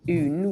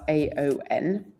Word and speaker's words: Aon: un which is spelled A O N. So I initially pronounced this Aon but you have to think of a Scottish person saying un in French but with a Scottish accent.